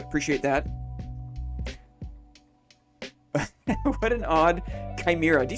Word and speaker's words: chimera: What an odd chimera.